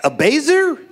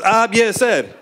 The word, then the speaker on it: Abiecer: Like, Abazer? Abazazizer? I was just like, do we have to go back to kindergarten and do the syllable clap? Abiecer. Three syllables. Abiecer.